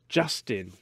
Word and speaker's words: JVSTN: The band is called Justin, which is spelt JVSTN. Okay.